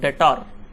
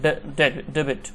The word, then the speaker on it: debit: So some of the guys are pronouncing like debtor, so this is not debtor, actually cash account debit. It should not be pronounced like a debtor, it should be a debit, we should pronounce like debit.